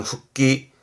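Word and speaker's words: 復帰: 가에르 집에 가는 귀가의 귀자 이게 복귀하는 발음은 후끼 후끼 이런 케이스들은 초급 변형이니까 발음 챙겨두시고 그렇죠.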